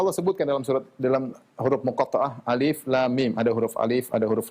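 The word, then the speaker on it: الم: Ketika Allah mengatakan alif lam mim, kita bacanya satu-satu, alif lam mim, bukan kita baca alam. Ini bacanya alif lam mim. Bukan alam. Bukan alim, bukan alam, ya.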